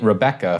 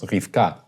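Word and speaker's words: רבקה: We get Rebecca from kind of the Septuagint which has as rho epsilon beta epsilon kappa kappa alpha, right? Where it's literally re-be-cca. Right? Whereas in Hebrew it's just two syllables, Rifka.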